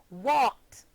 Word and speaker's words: walked: The verb walk, walk, becomes the past tense verb walked and is pronounced walked, forming only one syllable.